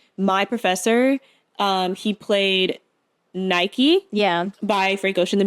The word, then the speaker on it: Nike: is disappear now like Europeans called them like Nikes yeah it was um it was Nike that's the correct way to say it's called Nike it was his music